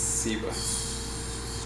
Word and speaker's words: Ciba: your Chiba Club promotion, and Ciba, soft C. Soft C, yeah. Soft C, okay. Soft C, like almost like an S. Like, okay. Ciba.